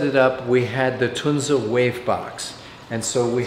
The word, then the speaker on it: Tunze: In German it's called TUNZE.